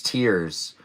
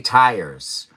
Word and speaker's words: tiers: But it's tiers. But you could say tires. But that's because it's almost spelled identically. But it's not. But it's tiers, not tires. And not tears like tears.